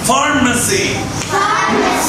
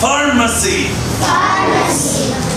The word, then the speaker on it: pharmacy: الصيدلية pharmacy. في اتش بنطقها ف فارماسي مسجد سكول بيكري ماركت بوتشرز جروسرز.